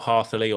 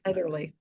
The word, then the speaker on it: Heatherly: And I know that Rob Hartherley or Herthley, I forget how to pronounce his name. He sort of did a whole Heatherly. list of Heatherly. Rob That's it. Heatherly. Yeah, that's the one.